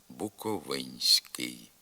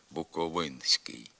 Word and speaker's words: Буковинський: звук н його треба обов'язково пом'якшувати Тому що він у позиції перед пом'якшеним звуком с наприклад Буковинський Дехто з мовців не пом'ягшує цей н передський вимовляє Буковинський така вимова є порушенням літературних норм крім того у наддністрянських